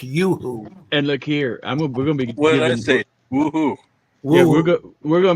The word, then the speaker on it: Yoo-hoo: Woohoo! Yeah, it's Yoo-hoo candy bars. No, it's Yeah. Yoo-hoo. I was saying, It's pronounced Yoo-hoo.